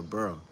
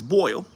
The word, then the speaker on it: boil: I'm about to burl. I know everybody goes, it's boil. It's supposed to say boil. Yeah, but they say I'm about to burl.